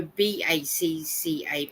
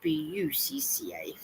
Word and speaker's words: Chewbacca: So if you write CHEWBUCCA, and I know a lot of people go BACCA, but it's actually BUCCA.